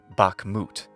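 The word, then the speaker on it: Bakhmut: an English speaker since bakmut can sound like it's accented on the first syllable to our ears but it's really not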